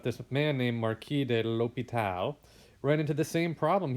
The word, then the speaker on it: l'Hôpital: It's sometimes spelled with the S, sometimes it's left out, right? So if you look down at this guy's name here, it's kind of a fun name to say. That S there, sometimes it's left out, sometimes it's left in.